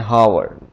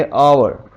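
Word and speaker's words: hour: आगे ओ यू आर हम mostly से पढ़ते हैं होवर लेकिन इसे हम पढ़ेंगे और आगे साइलेंट हो जाएगा यह ऑनेस्ट नहीं है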